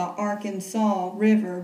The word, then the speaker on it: Arkansas: There's a river when it's in Arkansas, and you can say it like that, the Arkansas River.